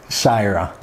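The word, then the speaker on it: Xagħra: Shira, it's spelled X-G-H-A-J-R-A. But the GH is silent, so it's and the X to us is sh, and the J is a yeah, and yeah, Maltese is complicated.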